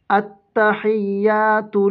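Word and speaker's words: التحيات: যেমন দেখেন, হামজা তা জবর আত, তা জবর তা, আত্তা। এখন কথা হচ্ছে, এই যে আপনার একটা লাম, এই লামটা কেন উচ্চারণ হলো না? লামের উপরে কোনো কিছু নাই, জবর জের পেশ জজম কোনো কিছু নাই। আরবি পড়ার নিয়ম হলো যে হরফের উপরে জবর জের পেশ জজম কোনো কিছুই থাকবে না, ওই হরফ লেখার মধ্যে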